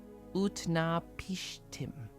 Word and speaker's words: Utnapishtim: In the city of Shurupak, there lived a man named Utna Pishtim. You might pronounce his name like this, Utna Pishtim.